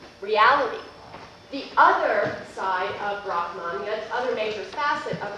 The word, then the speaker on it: Brahman: So, the Hindu divine, the Hindu God, also known, as you're aware now, as Brahman, and the actual Sanskrit way to pronounce this is Brahman.